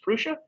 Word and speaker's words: Prusa: i think it's also printed or no actually pronounced prusa yeah i've got to actually get a defense